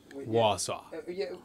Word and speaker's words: Warsaw: i think that's warsaw which is from poland warsaw w-a-r-s-a-w warsaw warsaw but it probably has an